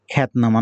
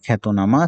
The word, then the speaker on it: খ্যাতনামা: তাহলে হয়ের সাথে ব ফলা থাকলে তার উচ্চারণ হবে এরকম। যেমন আরেকটি শব্দ আমরা বললাম জিহ্বা। আমরা আরেকটি শব্দ দেখতে পাচ্ছি খ্যাতনামা। খ্যাতনামা নয়, এটা খ্যাতনামা।